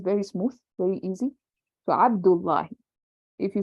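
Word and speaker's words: عبد الله: Mudaf will never be heavy. It will always be light. Like Abdullahi. It will never be Abdun. You can't even pronounce it. Abdun, you can't even say it. If you're struggling to say something in Arabic, then no, it's wrong. Abdullahi, no, that's wrong. Abdullahi. See how smooth that is?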